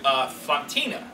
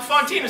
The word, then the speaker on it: Fontina: But then there was a character they introduced named Fantina. And they wanted to pronounce her Fantina.